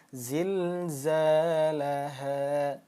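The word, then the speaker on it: زلزالها: panjang dua harakat zilzalaha nah dua ketukan Za l ha Nah jangan sampai empat ataupun lima itu kurang tepat karena mad thabi'i kaidahnya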